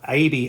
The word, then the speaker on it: AIBI: I'm pronouncing it AIBI as in, the same way as you would say baby.